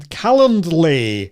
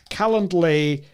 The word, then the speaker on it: Calendly: for this is called callum callandly if i can spell it pronounce it right calendly is amazing i'm going to put